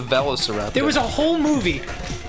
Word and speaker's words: Velociraptor: said is not real a veliseraptor yeah that's not a that's not a thing how do you say it Velociraptor no it's a velociraptor there was a whole